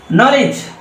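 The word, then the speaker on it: knowledge: এখানে কি উচ্চারণ হবে এই কেন টাও কিন্তু এখানে কি হবে নো এর মতন উচ্চারণ হবে রাইট নলেজ দেখো নো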